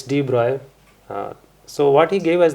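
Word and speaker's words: de Broglie: then deep broccoli comes sorry it's written as D broccoli but it's probably pronunciated as Deep Roy okay he's French okay okay so we often make this mistake in our classes so it's deep broil so what he gave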